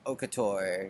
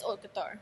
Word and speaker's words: haute couture: Pretty sure it's haute couture. Haute couture. Yeah. No, I think that's how everybody says it. Yeah, I've been saying it wrongly.